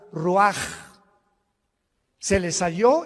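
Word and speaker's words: רוח: Se pronuncia la ch en hebreo como J. Roaj, se le halló y se traduce espíritu.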